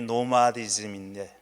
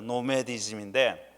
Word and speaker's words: 노마디즘: 자 오늘 설교 제목이 노마디즘인데 노마디즘 원래는 노메디즘이라고 발음해야 되지요 노메에 대해서 나온 말이고 그 뒤에다가 ism을 붙인 거니까 노메드 ism입니다 노메디즘인데 한국에서는 벌써 한 2